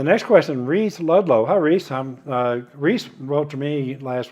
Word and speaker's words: Rhys: So I kind of took a wild guess at how to pronounce it because it's spelled R-H-Y-S. And I took a wild guess and said Reese, and I was right.